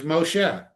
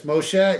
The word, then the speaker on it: Moshe: no, he's Moshe. He's only Moises in either in Yiddish or in a little variant pronunciation of the Egyptian name Mosa. Hmm. And there are pharaohs with the Mosa name as part of their name. So yes, Moshe is the Hebrew pronunciation of a very valid Hebrew name.